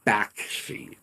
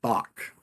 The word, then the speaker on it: Bakshi: a sense of and apparently it is pronounced Bak shei not Bach maybe else it well